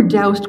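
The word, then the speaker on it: Doust: HD Curtis he were doused Curtis I learned how to pronounce his middle name by phoning his last living student at asking I was told to rhyme with soused no I think it's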